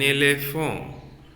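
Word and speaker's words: éléphant: An elephant. So T, totally I have removed T while I pronounce elephant. A, le, that P plus A, pa plus A, pon. Elephant. That will become elephant.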